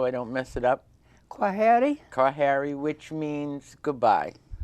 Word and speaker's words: Heri: Please pronounce the name so I don't mess it up. Heri?